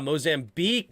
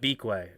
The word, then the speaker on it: Mozambique: Down maybe gotcha Mozambique ah Mozambique is how you not beakway Mozambique is how you say the b-i-q-u-e got it Chad is